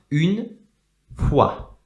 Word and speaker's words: une fois: Une fois. So we have different letters that don't usually represent the sound W here. And we also have the letter S at the end, which is not pronounced, okay?